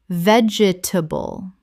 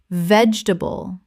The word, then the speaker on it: vegetable: Common mispronunciation. Vegetable. Correct pronunciation. Vegetable. 3 syllables in natural speech. The middle syllable almost disappears.